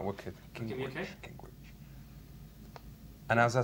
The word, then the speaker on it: Gingrich: Gingrich. Gingrich. Gingrich. All right, wicked. Okay. Gingrich.